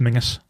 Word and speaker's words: Menzies: It's pronounced like it's pronounced Mingus. Yeah, but it's spelled like Menzies. Yeah, Castle Menzies. Okay, yeah. I always. So it's not Menzies.